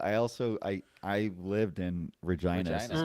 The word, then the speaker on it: Regina: But in Latin, it would have been pronounced Regina.